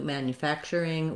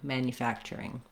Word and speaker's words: manufacturing: factor manufacturer and then when we change to manufacturing we just add the ing which is the if vowel and the ng sound in manufacturing do try practicing these